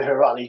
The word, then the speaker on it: Heirati: You need the Heirati genetics. Sorry, I'm pronouncing that right, Sas.